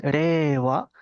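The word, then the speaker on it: 令和: la era japonesa actual reeva eh ahí cuando pronunciamos eso la i pareciera que no está sonando no pareciera que es la e que se estira greva e si uno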